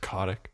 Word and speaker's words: Kotick: Bobby Kotick oh dude I believe it's pronounced Kotik do you remember that